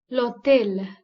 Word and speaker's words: hôtel: Therefore, the vowel following the letter H is prominent in pronunciation. L'hôtel, that is hotel, and l'hôpital, that is hospital, are some examples.